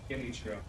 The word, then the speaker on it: Genichiro: Start with a G or a J. A G. Genichiro.